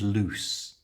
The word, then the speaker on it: loose: the pronunciation lose and loose notice both of them have a long ooh sound in the middle however lose which means